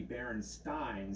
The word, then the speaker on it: Berenstain: not an a actually the most likely pronunciation will be baron Stein since we spelled the same way like Frankenstein everybody I ever met